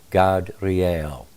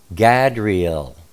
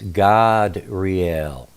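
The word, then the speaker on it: Gadreel: generally you would say gadriel or gabriel the way it's spelled but um you know back in those days ancient times the a is always pronounced ah so it's god real just so that you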